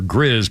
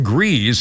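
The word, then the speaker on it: Gries: birthday list includes John I think it's pronounced G or Grizz but it's spelled gree John grees is 67 you don't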